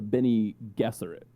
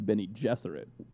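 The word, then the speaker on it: Bene Gesserit: that like i remember my dad and i always pronounced the witches we called them the benny gesserate any guesser at witches but then watching the movie they pronounced it and they're the beni jesserat witches um and there were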